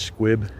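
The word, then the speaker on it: Sqwib: I believe his channel is pronounced Squib, S-Q-W-I-B.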